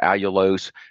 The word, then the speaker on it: allulose: It's allulose. Am I pronouncing that right? Or D-allulose? D stands for the chemical structure, part of the chemical structure, but allulose.